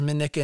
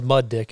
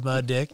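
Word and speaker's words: Mindnich: Because I'd gone up once with Nils Minnick and Garrett Warnick. Nils Muddick is actually how it's pronounced. Nils Muddick.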